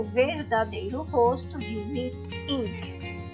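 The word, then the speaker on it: Lipps Inc.: Como já estava em uso, optou por Lips Inc., que se pronuncia igual.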